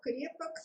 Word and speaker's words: крепок: В конце слова крепок произносится звук г, так как следующий согласный звук в тексте, который идет за этим словом, это звук б, звонкий.